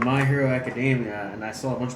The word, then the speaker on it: Academia: dressed as it and I said My Hero Academy instead and they're like it's Academia and I'm like all right I get it.